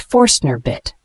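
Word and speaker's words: Forstner bit: creating flat bottomed holes it's pronounced forner bit similar terms include flat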